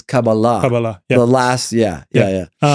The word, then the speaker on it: Kabbalah: I mean, I say Kabbalah, but actually the proper pronunciation is Kabbalah.